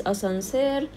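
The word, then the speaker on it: أسانسير: forgot the mask okay elevator or lift in egyptian arabic is a sunser this is uh the french word asan sir but in an egyptian pronunciation touch so if i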